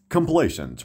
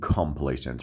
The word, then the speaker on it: complacent: Complacent. ما هیچ وقت نمیگیم complacent. میگیم complacent.